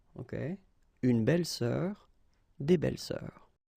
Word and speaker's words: belles-sœurs: Same rule here, S and S, but you don't pronounce it. Une belle-sœur, des belles-sœurs, okay? Une belle-sœur, des belles-sœurs.